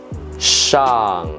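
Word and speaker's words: 下: the fourth tone together Shan Mian Shan Mian sha men shunya that means up or on the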